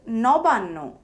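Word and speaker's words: নবান্ন: For example, onno is pronounced as on no and nobanno is pronounced as noban no.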